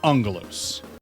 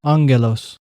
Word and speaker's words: Aggelos: And yes, it is pronounced Angelus. Angelus. Angelus. It's the Greek word for angel.